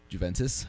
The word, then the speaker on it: Juventus: which is he did i thought it was juventus juventus juventus that's how you say it that's how you say g j u v e and t u s that's like saying like